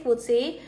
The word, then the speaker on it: FTSE: Foodsi tulisnya FTSE ya. Jadi aku bacanya Foodsi gitu.